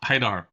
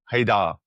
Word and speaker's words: Haidar: Okay, I'm joined today by Haidar. Am I pronouncing that remotely correctly? Quite close. Haidar. Haidar.